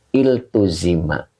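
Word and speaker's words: التُزِمَ: awalnya kasrah Ain fi'ilnya maka cara bacanya menjadi iltuzima ya bukan gah awalnya di Alif ya tetapi di TA nah ini khusus untuk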